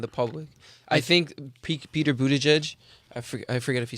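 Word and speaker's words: Buttigieg: public servant and the public i think peter budej i forget if you say his name correctly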